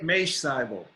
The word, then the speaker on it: Mache Seibel: here as an expert on the hot years, Mache Seibel, Dr. Mache Seibel. Did I pronounce that correctly? It's Mache Seibel.